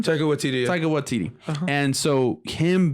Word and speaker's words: Waititi: Is that how you pronounce his name? Taika Waititi.